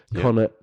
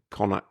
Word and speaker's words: Connacht: It's some good stuff in there, referring to the Connacht disaster of 2 years ago.